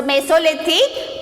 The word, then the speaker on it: Mesolithic: So it's just how to pronounce this? Paleolithic. Okay. And next spelling is there here. M-E-S-O-L-I-T-H-I-C. Mesolithic. So Mesolithic, Meso it is the Greek word.